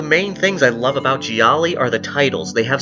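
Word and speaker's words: gialli: westerns euro grind and gialos or Jiali if you want to pronounce the plural version right I'm probably going to screw up and say gialos instead of Jiali plenty in this video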